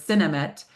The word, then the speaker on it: Sinemet: That's a lot of syllables, so you might hear me either in today's talk or appointments, referred to it as Sinemet, S-I-N-E-M-E-T, which is the old brand name.